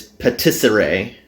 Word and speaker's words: patisserie: Oh, I figured out how to pronounce that word here. It's patisserie.